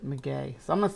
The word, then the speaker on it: maguey: And if you know your tequila, you know that the agave plant, a maguey, yeah, it says maguey right there. It tells you how to pronounce it, maguey.